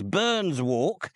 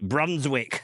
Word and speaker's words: Burns Walk: It's known as Burns Walk. And I checked that with a local. That's how they say it. But I was warned that some people call it Brunswick as well.